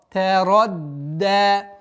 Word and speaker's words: تَرَدَّى: Мягкий, твердый, мягкий. Ра в данном случае твердая. Та и даль мягкие. Та. Ра. Та. Ра. Тарадда. Тарадда. Тарад. Удваиваем, а потом даль сперва удваиваем. Если при произношении звука даль не будет давления на местонахождение звука даль, она перейдет в звук та. Тарадда. И поэтому нужно давить.